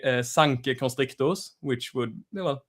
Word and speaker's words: Sanke: Did I actually pronounce the thing right? Uh, is it Sank?